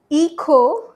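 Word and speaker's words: hijo: Then elo ea ea not hija hij silent kot eo ea for son or daughter.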